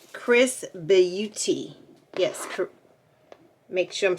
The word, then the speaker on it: XRS Beauty: this is the box at first i thought it was xrs beauty but they pronounce it chris beauty yes make sure i'm